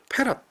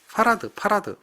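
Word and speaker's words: farad: 써요 그리고 읽을 때 얘를 읽을 때 뭐라고 읽느냐 패럿 패럿 파라드 뭐 이렇게 하죠 패럿 페럿이라고 하죠 파라드라고 합니다 파라드 그렇게 주로 이제 이야기를 하죠 그래서 요걸 우리는 c라고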